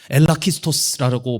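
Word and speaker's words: ἐλάχιστος: 여기서 지극히 작은 자라고 번역된 헬라오 단어가 엘라키스토스라고 발음하는 단어인데 이거는요 작다 혹은 연약하다라는 뜻에 미크로스라는 헬라 단어가 있거든요.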